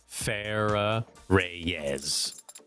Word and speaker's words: Farah Reyes: And how is that pronounced? Like how I just said it. Farah Reyes.